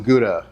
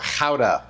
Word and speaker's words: Gouda: And then for our cheese, we have some white cheddar and some gouda or hauda apparently is how it's properly pronounced.